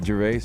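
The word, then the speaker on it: Gervais: Ricky Jerves. Ricky Jervase.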